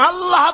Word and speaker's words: আল্লাহ: আল্লাহ পাকের উচ্চারণটা হচ্ছে, আল্লাহ পাকের নাম উচ্চারণ হচ্ছে আল্লাহ। মুখটা একটু গোল হয়ে যাবে, বলেন আল্লাহ আল্লাহ আল্লাহ।